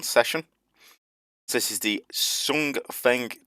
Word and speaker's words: Hsiung Feng: So this is the Hsiung Feng 2 missile from Taiwan. I think I pronounced that right. I think the H is silent in the title.